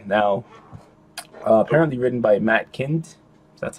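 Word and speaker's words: Kindt: Now, apparently written by Matt Kind, that's how you pronounce it, and David Rubin.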